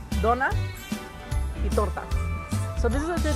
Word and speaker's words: Donuts y Tortas: So we have donuts, y tortas.